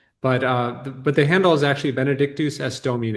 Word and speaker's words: Benedictus es Domine: Benedictusesdomine, I must have said about 60 times. Can you just tell me one more time how to say it? sure, Benedictus es Domine.